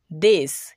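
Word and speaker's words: this: দিস এই বানানেও টিএইচ এর উচ্চারণ এবার দ হচ্ছে।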